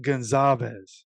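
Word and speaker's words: Goncalves: somebody told me that the C in this name was actually pronounced as a z so we're going to try this Matt Gonzalez I think that's how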